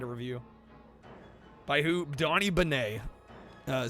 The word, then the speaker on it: Benet: Donnie Benet. Uh, spelled B E N E T. The T is silent.